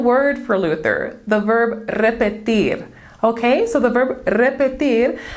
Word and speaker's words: repetir: infinitive unconjugated form well luther noticed that the stress on that word was different repetir he could hear how that sounded different the stress was on that last syllable of the word when compared to the